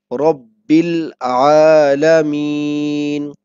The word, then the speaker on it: Rabbil Alameen: Okay, this is the Shadda sign, and it's mean we have to pronounce this letter two times. Okay, Rabbil Alameen. And you are watching that this alif is silent, and Ba is directly connect with this lam.